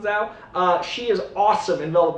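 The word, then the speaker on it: Zawe: The name is Z-A-W-E. I think it's pronounced Zhao.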